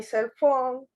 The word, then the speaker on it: cell phone: Remember that the pronunciation, when you're saying cell phone, the stress is in phone. Cell phone, okay?